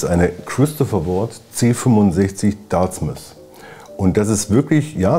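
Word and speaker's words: Dartmouth: Das ist eine Christopher Ward C65 Dartsmith. Und das ist wirklich, ja, es wird wie Plymouth ausgesprochen.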